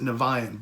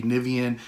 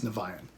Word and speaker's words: Niviane: how do you pronounce the band name we pronounce it nevayan but in other parts of the world it could be nivean and there's other ways of pronouncing it so